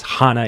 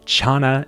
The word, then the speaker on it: Chana: I connect with Hana Studley, and her name is Hana, even though I say Chana in the beginning of this episode, which I am a little bit embarrassed about, but that's all right.